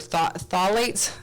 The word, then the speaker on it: phthalates: I always mess up this word, phthalates, because it's spelled with a PH, for crying out loud.